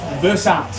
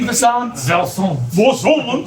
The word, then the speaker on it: Versant: They had 3 different branding consultants, and they came up with a new name, which is Versant.